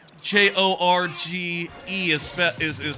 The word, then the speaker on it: Jorge: I looked up how J O G J O R G E is spel is is pronounced and I found out it's Jorge.